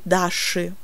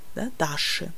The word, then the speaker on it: Даши: Au pluriel, Даши. On écrit I à la fin, mais on prononce E. Даши.